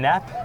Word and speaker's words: Knapp: Brian Knapp with a silent K, just warning the viewers.